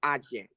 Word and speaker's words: AJE: you got it it's ajay i i'm italian it's easy for me i just i just pronounce it the way it's written tell me all about